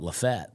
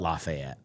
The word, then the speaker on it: Lafayette: My dad lives in a town uh it's spelled Lafayette, and they call it Lfett. Oh. in Louisiana. Uh it's in Alabama. Oh, they do lot in Louisiana. They still call it Lafayette. Yeah. In Alabama it's Lfett.